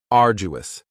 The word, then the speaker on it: arduous: Next is arduous, and arduous has 3 syllables, and the stress is on the first syllable.